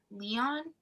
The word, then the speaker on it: Leon: crazy and stupid by leon l-e-o-n yeah and that's how you say it um i remember like